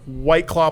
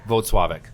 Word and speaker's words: Włocławek: White Claw, Poland. Correct. Okay. Włocławek.